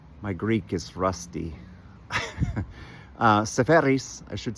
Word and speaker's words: Seferis: Uh, Sepheris, I should say his name right, was uh, fantastic.